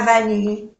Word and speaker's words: vanille: Tu préfères le chocolat, no se pronuncia la T, ou la vanille, no se pronuncia la E. Vanille.